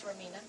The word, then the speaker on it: Romina: me on the show and yes you did pronounce my name correctly it's Romina uh I came here to Los Angeles to